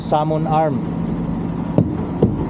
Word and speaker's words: Salmon Arm: tayong drop dito sa Salmon arm pero ang pronounce nila dito salon arm silent L So yun guys Ah